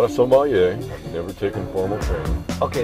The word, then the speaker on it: sommelier: And I'm not a sommelier. Never taken formal training. Okay, that was going to be a question I was going to ask. So I have a difficulty pronouncing that word. So sommelier.